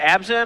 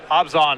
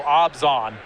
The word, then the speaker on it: Abzan: Is it Abzan or Obzon? It is Obzon. It's actually more of an O sound. It feels like there should be an H in there somewhere. Maybe. I don't know. Evan Irwin told me that it's pronounced, it rhymes with Rob Gone. So Obzon is what he told me.